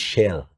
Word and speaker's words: Chelle: A Frenchman told me it's Chelle. It's Chelle. Yeah, Chelle. It's Chelle. We said Chelle.